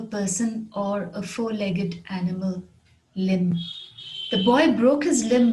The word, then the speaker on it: limb: leg of a person or a four-legged animal limb the boy broke his limb when he fell